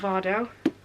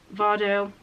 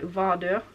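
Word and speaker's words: Vardø: Vardo, well, that's not how you pronounce it, it's called an O there, which is like so it'll be like Vardo, something like that.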